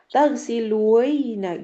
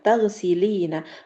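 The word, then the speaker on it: تغسلين: Karena kalau tetap dhammah, ditambahin ya sama nun, susah. Taghsiluina gitu. Jadinya turunin. Makanya Ana bilang, bacanya ina di belakangnya. Biar bisa dibaca ina, taghsilina.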